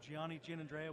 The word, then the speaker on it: Gianni Giannandrea: I'm Gianni Giannandrea with 87 Upstream. Is that how you pronounce it?